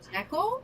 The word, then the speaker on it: Jekyll: And this is the same Jekyll of Jekyll and Hyde, right? The correct pronunciation is Jekyll, but we've gotten Okay.